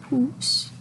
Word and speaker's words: poussent: Les semis poussent. Oh, on ne prononce pas le ENT, donc pousse.